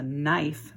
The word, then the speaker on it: knife: Here's another silent letter word. That's a knife that it's pointing to.